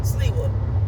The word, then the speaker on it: Sliwa: Is it Sliwa or Sliwa? Sliwa.